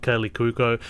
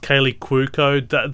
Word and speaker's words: Kaley Cuoco: family, but he basically falls in love with Kaylee Cuoco, and there's the romance of the piece.